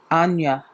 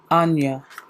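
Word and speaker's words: Áine: Ain or I believe the name how you pronounce it correctly in in Gaelic orange Celtic is Anya Anya Anya leap of faith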